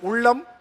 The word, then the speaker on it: உள்ளம்: அதெல்லாம் வருது பாருங்க சிறப்பு லகரம் எல்லாம் ரொம்ப கஷ்டம் அது வருது ஆனா உள்ளம் உள்ளம் அதை மட்டும் நீங்க பயிற்சி எடுத்து அடுத்த சுற்றுக்கு ஒருவேளை